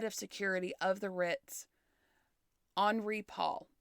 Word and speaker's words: Henri: security of the Ritz, Henri Paul. It's spelled Henry with an I, but France. Yeah. So Henri Paul.